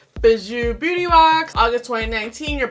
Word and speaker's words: Bijou: to see how I like it it's called bazoo beauty box see that's how you pronounce it it's fed bij oh you and